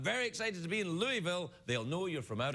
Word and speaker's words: Louisville: now when you print pronouncing Louisville is very important that you say Louisville because people it sounds like it'd be Louisville but if you go to